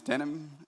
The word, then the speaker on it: Denham: My name is Denim, pronounced like the jeans.